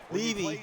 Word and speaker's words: Levy: Levy, that's how his name's pronounced.